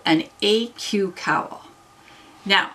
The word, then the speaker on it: aeque: and it's called an Aeque cowl. Now, I checked pronunciation, and I think that's right. It means equally in Latin. I've never studied Latin, so I'm hoping Aeque is what how you said.